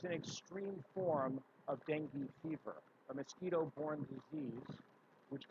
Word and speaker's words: dengue: How to pronounce berry? Berry. Berry. Berry. Berry. So the next word, dengue. Dengue.